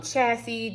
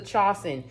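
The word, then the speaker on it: 茶筅: This I was saying um chassis. This is this is a chosen.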